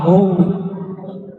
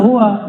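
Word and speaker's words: هو: Hu bacanya hu jangan hua kecuali disambung.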